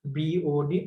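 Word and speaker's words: BOD: এটাকে ভুলেও কখনো কেউ বড বলবেন না, কারণ যেগুলো এরকম বোল্ড থাকে অর্থাৎ যেগুলো শর্ট ফর্ম এগুলো কখনো সেন্টেন্স আকারে বা ওয়ার্ড আকারে উচ্চারণ হয় না, যেগুলো বিওডি আলাদা আলাদা করে উচ্চারণ হয়। অনেকে বড বলেন, এটা আসলে ভুল।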